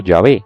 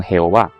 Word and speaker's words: Yahvé: La gran mayoría de eruditos, tanto cristianos como hebreos, cree que el nombre se pronuncia en español como Yahvé, junto con Jehová, siendo esta última la segunda posibilidad más popular.